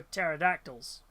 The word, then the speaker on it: pterodactyls: Uh no, because it's the P is silent for pterodactyls.